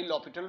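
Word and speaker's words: L'Hôpital: right तो again apply ल पिटल rule again apply लोटल rule spelling इसके हॉस्पिटल के हॉस्पिटल लेकिन पढ़ते इसको लॉ पिटल रूल है ठीक है जी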